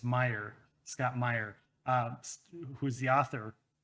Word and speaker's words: Meyer: He had a character named Martin in a book that Scott Meyer, I got to pronounce it. I'm like, which way is it? It's Meyer, Scott Meyer, who's the author, wrote, who we also had on as a guest.